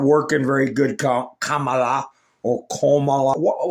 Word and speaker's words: Kamala: very good, Kamala or Kamala. How do they want us to pronounce her damn name anyway? In America, the letter A is pronounced ah, Kamala.